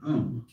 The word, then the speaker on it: Om: That sound is used because if you spell it out, A-U-M, it runs from the back of your throat to your lips, and therefore it contains the whole range of the voice.